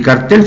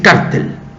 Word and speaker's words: cartel: Y cartel se dice cartel. No se dice cártel.